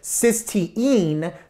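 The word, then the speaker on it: cystine: spelling are not the same so this is pronounced cyen this is pronounced cysteine so we have the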